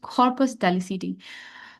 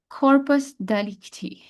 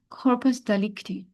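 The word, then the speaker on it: corpus delicti: mind then there is कॉर्पस डेलीसिटी कॉर्पस डलिकटी इट्स डिकटी actually I am pronouncing things wrong कॉर्पस डलिकटी okay body of द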